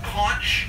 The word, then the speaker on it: conch: on my short list is it's spelled c-o-n-c-h conch but it's pronounced conch like conch on the head you